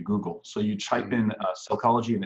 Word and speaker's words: Sellchology: So you type in Sellchology and it's spelled S-E-L-L for the word sell, and then C-H-O-L-O-G-Y. And that's, of course, the merging of cell and psychology, Sellchology.